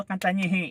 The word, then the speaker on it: Cantanhede: Jadi bagi yang menyebut Cantang HD atau Cantang H, cara membacanya bukan seperti itu; Ini Bruno Cantanhede.